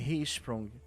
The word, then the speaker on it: Hirschsprung: silencioso da doença de Hprung. Eu falei certo, doutora? Sim, a pronúncia é essa mesmo. Hisprung.